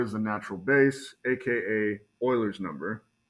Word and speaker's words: Euler: What is the natural base, aka Euler's number, right? And I hate that it's pronounced Euler, but apparently that's the right pronunciation. For years, I was calling it Euler.